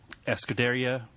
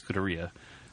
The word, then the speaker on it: Scuderia: Escuderia Borcua. Scuderia? Scuderia? Yeah, Scuderia Borcua. I got all hung up on that second half, and I know it's Scuderia, but I don't know how to pronounce Borcua.